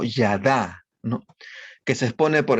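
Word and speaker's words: ידע: para el acto sexual se usa el término que se pronuncia como yada no que se expone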